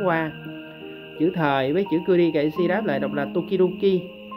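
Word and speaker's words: 々: Cái dấu này đọc là kuri kaisi ha.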